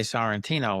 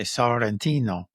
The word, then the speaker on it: Sorrentino: asks me my name, I say Sorrentino, which is not how they say it. They say Sorrentino, which Oh, okay. sounds a lot nicer than the way we say it. Because again, they roll the R's and they pronounce the O different and things like that.